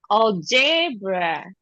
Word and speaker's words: algebra: generator, gentle, Nigeria, algebra, Algebra. Algebra. algebra, Not o, a, al, algebra.